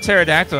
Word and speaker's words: pterodactyl: say it it's like pterodactyl has a PE in it that no one pronounces it's like why is